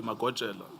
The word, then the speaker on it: Magojela: Naidu, where the deceased is, it's spelled as Majoela, but we know this to be Magojela, Timson Yes.